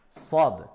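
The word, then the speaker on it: صاد: Contrairement à la lettre Sad, qui est avec at-tafkhim, avec emphase. On remplit la bouche, c'est plus grave.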